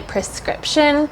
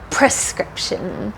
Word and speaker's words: prescription: I please get my prescription if you say prescription they will still understand you but the pronunciation the correct pronunciation should be that r at the beginning prescription I have a prescription